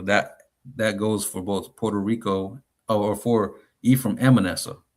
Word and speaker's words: Puerto Rico: Uh Puerto Rico, right?